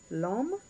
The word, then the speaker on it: homme: So, l'homme, that's one syllable.